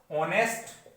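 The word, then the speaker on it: honest: अब देखिए ये शुरू कैसे हो रहा है, एच से, पर जब आप इसका प्रोनाउंसिएशन, इसका उच्चारण करते हैं तो आप इसे लिखते हैं ऑनेस्ट, लिखते हैं।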